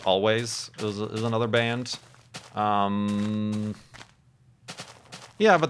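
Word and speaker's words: Alvvays: Recently, Always, although it's the W, instead of a W in Always, it's 2 V's. I kind of want to call them Alves, but it's pronounced Always, is another band.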